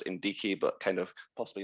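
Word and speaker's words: NDICI: i should say is ndk or indeci however to pronounce it is the neighborhood development and international cooperation instrument always referred to in brussels as in d key but kind of possibly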